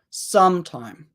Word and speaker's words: some time: that correct first syllable sometime sometime whereas this one there's a little bit more stress on the second syllable sometime I need some